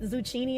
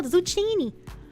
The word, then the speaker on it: zucchini: Zu zui yeah zui are you saying it zuchini as a joke please tell me that's not how you pronounce zucchini no no zucchini broli water spoot God